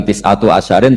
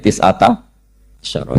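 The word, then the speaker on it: تسعة عشر: Tetap bacanya bukan tis'atu asyarin tapi tis'ata asyara.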